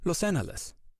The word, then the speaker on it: Los Angeles: back to pronunciation so starting in 1781 angelinos pronounced the name Los aneles and this lasted for